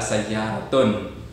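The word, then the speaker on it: سيارةٌ: Ya, karena kata sayyaratun itu tidak diawali dengan alif lam. Jadi, karena tidak ada alif lamnya, sehingga harokatnya adalah sayyaratun. Kalau seandainya ada alif lamnya, as-sayyaratu, ya, jadi tidak ada tanwinnya.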